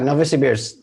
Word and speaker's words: Novosibirsk: You told me about the story in Novosibirsk. Am I pronouncing that correctly? Right in the middle of Russia. Novosibirsk. Yeah, Novosibirsk.